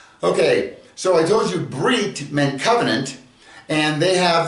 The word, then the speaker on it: brit: And by the way, that word Brit, remember, there's a group of Jews on the planet that whenever a word ends in a tav, they will pronounce it with an S.